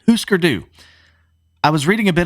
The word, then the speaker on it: Hüsker Dü: So, when I was reading a bit about how Hüsker Dü I almost said Husker Du. I thought it was Husker Du. I had to really look up the pronunciation. Hüsker Dü.